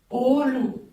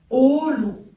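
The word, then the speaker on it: oğul: Alors, quand vous l'entendez, Olu, comme on a vu précédemment, Souk, elle allonge la voyelle précédente. Olu, Souk. Elle ne se prononce ni G ni D.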